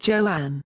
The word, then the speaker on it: Joan: Crawford initially wanted her new first name to be pronounced Joanne.